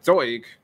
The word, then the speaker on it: Zeug: words to words so you pronounce each word as if it is its own so it's noi which is new buffar which is I don't know what that means and then zoig which is vehicle usually before I speak